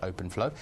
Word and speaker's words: OpenFlow: on on 25 of our switches we support open Flow as well as other vendors that support open